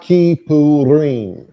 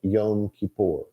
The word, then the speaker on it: Kippurim: I know that that these days the holiday is called Yom Kippur. No, Yom Kippur by most people these days. Wow, or Yom Kippur. Nobody seems to want to say it right. But the word is in plural. It is never supposed to be said in singular.